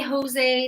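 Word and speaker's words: José: No, in English, a J sounds like J, but this is not an English name. Sorry, I should have explained this more. This is not an English name. We don't have this name in English. In English, I don't know, it would maybe be like Joe or something. But because we want it to rhyme with way, it's kind of just an idiom we've used.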